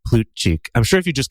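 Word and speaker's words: Plutchik: familiar with is the plut chi wheel and he was he was actually American so they probably called him plut Chi but plut chick is probably how his ancestors pronounce the name who was developed by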